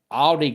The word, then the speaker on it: Audi: is Audie Crooks, and it is spelled just like the car, A-U-D-I. And Iowa State girls basketball is actually top 10 right now in girls basketball, and I think they're 13-0. But Audie Crooks is, hey there,